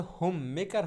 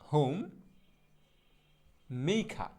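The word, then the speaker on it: homemaker: ভুল বলি, মোটে উচ্চারণটা হোম মেকার হবে না, শুদ্ধ উচ্চারণটা হবে এইরকম, হোম মেইখা। হ্যাঁ, এখানে হচ্ছে হর্ষি হবে, হোম মেইখা, হোম মেইখা, হোম মেইখা। হ্যাঁ, হোম মেকার না, হোম মেইখা।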